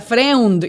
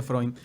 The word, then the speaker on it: Freund: dominicana el año pasado vi que era friend y yo a mi apellido freund se pronuncia freund con una n la diferencia consigue un freud significa amigo en alemán freund y por